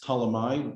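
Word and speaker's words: Ptolemy: actually a greek king in english it's ptalamai with a silent p at the beginning and there were many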